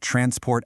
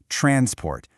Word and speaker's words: transport: Transport. But when we're talking about the action of moving something, the verb, that stress jumps to the second syllable. It becomes transport.